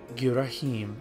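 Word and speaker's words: Ghirahim: you call the surface you may call me gim and that's how I pronounce it so don't try to correct me in truth I very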